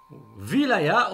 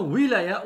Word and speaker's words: wilaya: sont les suisses romands wilaya ou bien willaya aussi il peut se prononcer avec veut et peut se prononcer avec ou rida yahoo bien wilaya